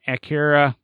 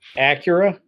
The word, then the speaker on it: Acura: three is the 2010 Akira or I can't ever everybody says I pronounce it wrong live with it people Acura yeah Akira Acura ZDX